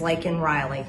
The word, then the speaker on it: Laken Riley: his speech concerning the death of college student Laken Riley, with Biden accepting from her a commemorative pin, including a photo of Riley. Watch this from X. And the State of the Union is Laken Riley.